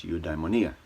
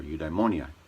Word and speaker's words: eudaimonia: Eudaimonia is a Greek word, and what Aristotle said was that the purpose of life was eudaimonia, or eudaimonia, depending on how you pronounce it.